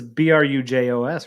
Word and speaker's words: Brujos: else but it does it is it is B ruj oos right yes that's yeah 100% but like there's a there's different ways to pronounce like certain things like um it's like